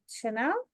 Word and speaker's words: Chanel: And then we have Chanel. Did I say Hi, that? my name is Chanel Evans. Yes, you said it right.